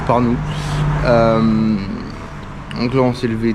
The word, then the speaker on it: Pärnu: On va à Parnou, donc ça s'écrit P-A-R-N-U, mais ça se prononce Parnou.